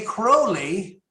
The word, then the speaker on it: Crowley: Speak me Crowley if you think me holy.